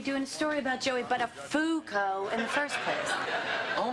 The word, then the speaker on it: Buttafuoco: It's, Buttafuoco. Buttafuoco. What did I say? Well, Matthew, of all the possible mispronunciations of that name, you seem to have stumbled upon absolutely the worst one.